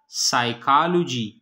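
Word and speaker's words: psychology: साइकोलॉजी, साइकोलॉजी में P silent है.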